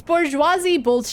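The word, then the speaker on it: bourgeoisie: Bouriosi. Okay, let's look this up. Uh, how to pronounce? Bouroisi. Bouroisi. Bouroisi. I was close. It's bourgeoisi.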